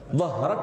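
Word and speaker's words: ظهرك: Udaranya mengalir, suaranya juga mengalir. Dhahrak langsung. Ya kan?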